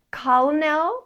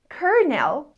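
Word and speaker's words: colonel: word if you said colel with an l sound you got it wrong the correct pron iation is kerel with an R sound a kernel is an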